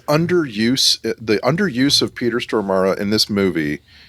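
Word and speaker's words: Stormare: And so whenever we'd bring him up on the show, uh he'd be like, "May make sure Brian you pronounce it as Peter Stormara."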